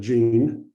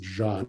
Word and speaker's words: Jean: again it's eunice and jean and well he should pronounce it john which was the name intended but this was exhibited